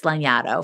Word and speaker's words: Lanyadoo: So nobody can pronounce my name. It's not phonetic. I'm not offended, but also it's Lanyadoo for those who are curious.